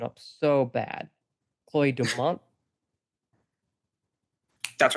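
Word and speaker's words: Chloé Domont: Oh, I'm going to mess this pronunciation up so bad. Chloe Dumont. That's right. Yeah, Chloe Dumont.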